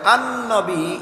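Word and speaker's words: النبي: নবী শব্দের আরেকটা উচ্চারণ আরবিতে হয় আন-নবী, এর অর্থ হলো আমাদের নবী।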